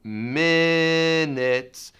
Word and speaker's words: minutes: So I want you to be very careful in minutes. Even though it's spelled I and then a U, T-E-S, both of those have the I sound.